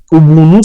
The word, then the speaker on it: Ubuntu: Ubuntu, c'est en Kirundi, Ubuntu, ça se prononce Ubuntu, c'est la générosité, c'est les partages.